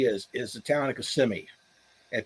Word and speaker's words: Kissimmee: is the town of kissimmee and people laugh if you if you uh if you pronounce it kissing me they'll make fun of you but the story